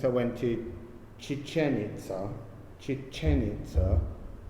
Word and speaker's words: Chichén Itzá: went to chichen itza chichen itza it's hard to say but you put the accent on the final syllable um i've been in